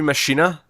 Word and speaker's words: Machina: Yeah, well, you speculated it might be Machina, but I went with Machina because of Deus Ex Machina, and I know that's pronounced that way.